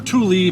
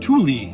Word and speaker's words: Tule: I'm pronouncing it that way because that's how Google pronounced it when I searched for Tule pronunciation. Google pronounced it Tule. Tule.